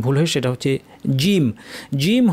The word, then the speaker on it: ج: জিম হরফটি আরবিতে বাতাস বিহীন। জিমবা দেখেন জিম হরফের মাখরাজ দেখি জিম উচ্চারণের সময় জিহ্বা তালুটাকে একদম সিল করে দিচ্ছে। কোন বাতাস বের হওয়ার কোন জায়গা এখানে নাই।